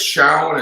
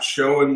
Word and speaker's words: Showen: It's Showen. It's not Showen, Morgan. Am I pronouncing it correctly?